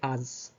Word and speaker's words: haz: So if you're telling your friend to do something, you say as. Ignore the H when you pronounce it, just as.